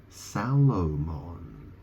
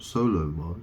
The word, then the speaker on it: Salomon: Sal it's spelled Salomon it's spelled s a l o m o n Salomon not Solomon but so it's not Solomon it's Salomon and that's the thing